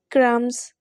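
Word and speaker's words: crumbs: Like क्राम्स, क्राम्स में देखिए बी आ रहा है इसके स्पेलिंग्स में, लेकिन हम इसको बी जब ये वर्ड प्रोनाउंस कर रहे हैं तो बी जो है साइलेंट हो गया, इसमें हम ये बी जो है इसमें नहीं बोल रहे, ठीक है।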